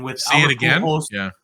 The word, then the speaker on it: Pujols: And Albert, never pronounced his name. Pujols.